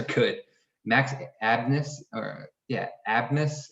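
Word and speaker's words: Abmas: max abness or yeah abness i think is how you pronounce his name um he leads the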